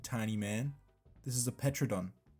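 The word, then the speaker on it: Pteranodon: This is a petrodon. The P is silent, but I still say it because it's funny.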